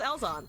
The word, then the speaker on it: Ellzawn: gameplay right now uh it's pronounced elzon welcome in um yeah